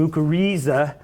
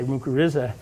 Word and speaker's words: mycorrhiza: Okay, the C always has to be hard. The I, if pronounced hard, would be an E, so it would be mycorrhiza, or else it would be mycorrhiza.